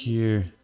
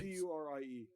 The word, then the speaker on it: Curie: It's a French pronounced word.